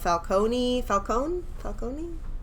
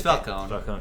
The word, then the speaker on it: Falcone: I loved even the storyline about her being the daughter of Falcone. It's Falcone.